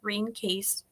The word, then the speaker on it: Rene Caisse: Johnson, or Johnston, we'll just say Johnson, gave the 8-herb formula to a Canadian nurse named Rene Caisse, and it is pronounced Rene Caisse.